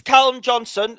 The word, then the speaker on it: Callum Johnson: It's Callum Johnson. Get the name right, please.